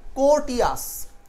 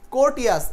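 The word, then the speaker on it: courteous: এই শব্দের উচ্চারণে এই আর এর উচ্চারণটা সাইলেন্ট থাকবে।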